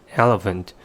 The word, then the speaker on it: elephant: For example, the word elephant, as what I've mentioned before, has 3 syllables. We may put the stress on the first syllable as shown in case 1 and say elephant, which means an animal